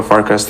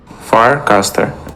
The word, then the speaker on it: Farcaster: Can you pronounce how is that spelled? Farcaster. Farcaster. Oh, Farcaster. Got it.